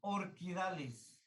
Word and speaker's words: Orchidales: Recuerden que se escribe orchidales, pero se pronuncia orquidales.